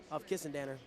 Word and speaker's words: Gissendanner: Couldn't quite wrap up the right arm of Gissendanner. Hard G there, Bader.